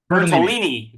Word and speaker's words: Bertolini: Mark Bertolini. Did I pronounce that right? Bertolini. Bertolini. Yeah, Bertolini.